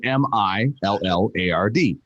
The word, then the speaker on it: Millard: time it's actually spelled m-i-l-l-a-r-d um where my dad grew up it's pronounced millard somewhere along the way